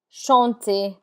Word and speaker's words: chanter: There are exceptions to that rule, and the R is not pronounced in words that end in ER. This list of words are mostly verbs like danser, to dance, danser, chanter, chanter. The ER has an A sound like AY, danser, chanter.